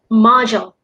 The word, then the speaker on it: module: That word would be pronounced module. Module. Yeah, module. It's j as well. And the mo instead of a mo is like the mom sound that I pronounced earlier in the previous episode. So it goes like ma, module. Module.